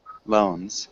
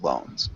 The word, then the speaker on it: loans: perfect Lo nice job loans so it has that long o sound Without Really any a sound so loans good really nice job